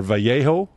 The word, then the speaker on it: Vallejo: premium uh premium paint from acrylic paint from Vallejo or Vallejo is that's how it's pronounced Aztec dummy Lou delmaso I want to